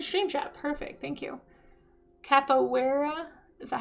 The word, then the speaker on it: Capoeira: Capoeira?